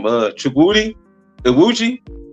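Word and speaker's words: Chukwudi Iwuji: listening how to pronounce his name. Chukwudi, Iwuji.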